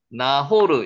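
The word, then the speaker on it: נָחוֹר: 서룩은 30세에 나홀을 나왔고 이제 점점 가까워집니다. 나홀 나호르 읽혀 주십니까? 나호 그 다 저 철자 위에 히브리어 그 철자 위에 점이 하나 찍히면 오 발음이 나죠. 그래서 나호르를 읽힙니다.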